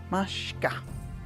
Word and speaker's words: Mashka: Mashka. Mashka. Mashka. Given kind of a SH sound. Shka. Shka. Mashka. Mashka.